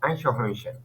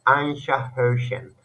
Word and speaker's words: Eichhörnchen: So as a pronunciation, I told you das Eichhörnchen, okay? Das Eichhörnchen. That's you can use Aisha, sha. Just use Aisha, sh. This sounds, okay?